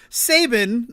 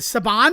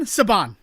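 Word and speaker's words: Saban: Sabin or what what is it? Sabon. Sabon is how you say the name of the company.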